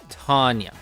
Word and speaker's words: Tanya: T painting on it, which has led to people saying that the proper way to pronounce her name is Tanya.